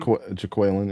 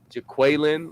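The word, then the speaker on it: Jacquelin: Jaquelin, yeah. Jaquelin, like Key and Peele.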